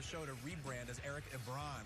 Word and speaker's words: Ebron: We once tried to convince him as a show to rebrand as Eric Ebron. It rhymes with LeBron.